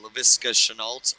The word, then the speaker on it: Laviska Shenault: Zach Love, as Andrew likes to call him, Laviska Shenault, or Shenault, as Andrew likes to call him. And I'm the one with that pronunciation.